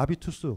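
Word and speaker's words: habitus: 습관 색각 전문용어가 되죠 불운은 h 가 묵음 이니까 아비투스 그러니까 자본주의가 우리한테 어떤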